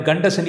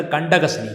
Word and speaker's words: கண்டகசனி: நிறைய பேர் வாயில் கண்டசனி என்று உச்சரிப்பார்கள். கண்டசனி அல்ல, கண்டகசனி. கண்டகசனி என்றால் கண்டவர்கள் கண்படுகின்ற சனி, அதைத்தான் கண்டகசனி என்று கூறுவார்கள்.